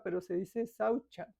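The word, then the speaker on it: śauca: Saucha, a veces lo dicen, se traduce como sauca, pero se dice saucha, porque la C en sánscrito se pronuncia CH, saucha.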